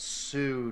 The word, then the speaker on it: Sioux: it's Sioux Nation. The Sioux. X is silent.